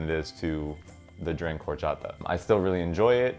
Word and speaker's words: horchata: what the flavor is the next flavor is horchata and it's spelled o-r-c-h-a-t-a which is a take on horchata